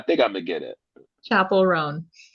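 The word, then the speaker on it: Chappell Roan: Chapel Roan. Chaperone, like chaperone.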